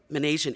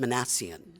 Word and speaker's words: Manasian: It's Manasian. M as in Mary, I, N as in Nancy, and the word Asian, A-S-I-A-N, and it's pronounced Manasian.